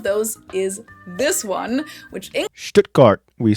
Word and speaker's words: Stuttgart: Stuttgart. As T becomes Stuttgart. And the U sound is short, so Stuttgart.